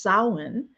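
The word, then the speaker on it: Samhain: Uh it's sin and so um which is spelled like sam hayne but it's called it's pronounced sin and uh what I would like to do there we go because this is a show about grief and honoring ancestors.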